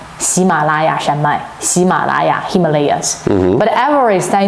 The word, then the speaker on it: 喜马拉雅: You know, Himalayas, in Chinese is pretty much the same pronunciation. 喜马拉雅山脉, 喜马拉雅, Himalayas.